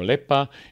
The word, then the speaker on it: lepa: a ne hrvatski eh i znači ne kažeš liepa neo lepa ne kažeš tisuča neo hiljada ne kažeš vlak